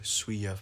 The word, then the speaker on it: Siwa: Well, I got a Jake Paul poster up there, and I got a Jojo Siwa poster. How do you pronounce Jojo's last name? Siwa.